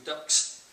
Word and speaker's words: Dux: for the title of School Ducks, which incidentally, for someone who was writing this down a while ago, that's not spelt with a CKS at the end.